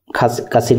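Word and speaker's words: قصير: সো এই কফকে এই গ বলে ফেলে, এই জন্য কাফ আর মানে ক আর গয়ের উচ্চারণ আপনি কাসির বললেও পারবেন, গাসির বললেও পারবেন।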